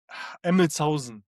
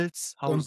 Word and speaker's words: Emmelshausen: It's called Emmelshausen. Emmelshausen. Emmethausen. Hold on. Let me Emmelshausen.